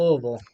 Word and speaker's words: Louisville: I'm supposed to say Louisville, that's how you say it here. There we go. We'll call it Louisville.